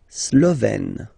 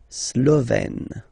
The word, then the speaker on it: Slovène: La Slovénie, so only one form here, Slovène, Slovène. Remember, E accent grave, you open it, Slovène.